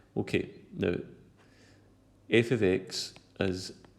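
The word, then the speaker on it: f(x): Okay, now f of x is pronounced, well I just said it, the f with the x in bracket is pronounced f of x.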